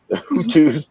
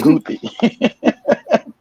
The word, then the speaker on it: Houthi: we called them the Hutus. It's the Houthi.